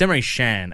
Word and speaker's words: Emre Can: It's Emre Can, actually. Oh, yeah. So right. that's how you pronounce it.